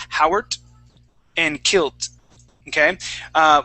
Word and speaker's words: Howard: t okay say saying Howard and Kilt okay uh we want to pronounce a d sound that D is like this Howard Howard try that please